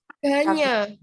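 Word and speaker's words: Gagné: Gagna itu udah ya. Siapa? Kalau Gagna itu enggak? Ganya. Kalau bacanya salah.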